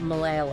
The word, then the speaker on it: Malayalam: pronounced differently oh really the first one is a standard L but the second one is retroflex so you make it by curling your tongue back oh wow yeah it's